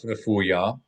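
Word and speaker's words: רפויה: So Uh, kaf refuya, Chaf kaf refuah. refuya, not refuah. That's a different word. Refuah means healing, healing. So we want kaf refuya with a Y.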